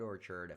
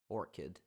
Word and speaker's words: Orchid: know eate the white Orchard iate again the what Orchard Orchard or orc Orchard how how do you say this again Orchid white orchid Phantom thank you but